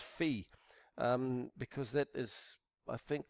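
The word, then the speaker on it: phi: where that later is not pronounced fire it's pronounced fee because that is I think closer to the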